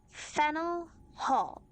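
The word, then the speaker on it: Faneuil Hall: Don't let the French spelling confuse you. The name of this building is pronounced Fennel Hall.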